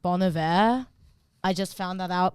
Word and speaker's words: Bon Iver: Also, Bon Iver is pronounced Bon Iver.